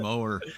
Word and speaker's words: Maurer: hey uh Maurer is it Mauer is how you pronounce your last name you can pronounce it however you want to but yes that's correct all right I think I called you mower a couple yeah that's that's what a lot of people say that's all right though